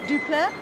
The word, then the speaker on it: du Plessis: You need to leave off the S on the end. Faf. So Faf du Plessis. Du Plessis. No, it's not as much fun. Du Plessis, like a C.